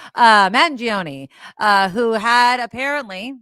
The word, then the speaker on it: Mangione: I keep putting an N in there. It's Magione. Mangione, who had apparently, like we suspected, right?